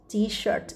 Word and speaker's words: T-shirt: Give me the t-shirt, t-shirt đừng đọc là t-shirt nhá, chữ sh này mình phải đọc âm s dài, t-shirt.